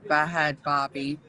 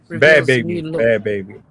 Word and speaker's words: Bhad Bhabie: Okay, I can see black culture blows up the internet after Bahad Barbie. Bad baby. That's how she pronounces.